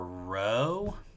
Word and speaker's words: rho: You pronounce this letter rho.